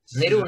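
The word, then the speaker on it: Nehru: ¿Pero cómo se pronuncia su nombre? Neru, nada más, acuérdense de Neru, nada más.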